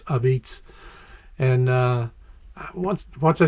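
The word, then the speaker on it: apizza: style of pizza which they call abeats which is spelled a p i z z a you think it's a pizza but it's abits and uh once once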